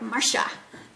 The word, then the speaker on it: Marcia: sock, mini sock skeins, I called her Marcia. Because here, that's how... Yeah, I know she had contacted you to let you know how to pronounce it. I said it right, Marsha.